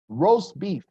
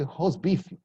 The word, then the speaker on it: roast beef: or something like that roast beef this word in Brazil many people say host beef this is nothing but